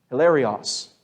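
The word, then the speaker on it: ἱλαρός: Greek it's hilarious and that's almost how it's pronounced hilarious it's it's out of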